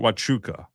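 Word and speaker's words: Huachuca: There was the name of the place was Fort Wuka, spelled Huachuka, but I think it's pronounced Wuka.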